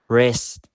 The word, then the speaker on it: wrist: Finally, the letter W is silent at the beginning of a word before the letter R. For example, wrong, wrist, right, wrote.